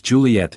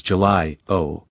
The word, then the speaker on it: Juliet: started off hesitantly sir my name is Juliet and at times you have mispronounced it as July o all right next said